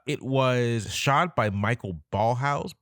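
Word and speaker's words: Ballhaus: was shot by Michael ballhouse B house ball house his name is spelled b a l l h a u s which sounds like ball house but that's just an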